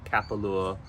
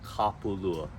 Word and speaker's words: Kapalua: get is Kapalua and this is one I've heard a lot people say uh Kapalua or uh it's not it's kapulua so that's just a short